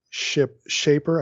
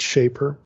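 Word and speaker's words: Schaper: Now, the first article I'm going to reference is by Joachim Shaper. I think it's a long A pronunciation, or Shaper, but Shaper.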